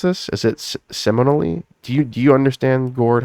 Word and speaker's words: Seminole: Is it Seminole? Do you understand, Gord, how to pronounce this? You were in Florida, Seminole? right? Seminole.